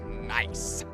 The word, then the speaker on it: NAIC: champion on the stage at neic pronounced nice pronounced nice as we see these